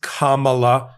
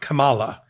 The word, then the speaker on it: Kamala: once and for all it is Kamala Harris with the emphasis emphasis on Kam not Kamala that's one secondly which